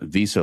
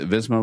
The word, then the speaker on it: Visma: many times, up into Stage 7, the UAE, Visa Lease, is that how you say it? Visma Lease, A-Bike.